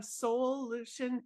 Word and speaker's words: Soulution: So she is the founder of Soulution Therapy. And soul, I said it that way on purpose, so I didn't say it wrong. It's SOUL in all caps with a solution.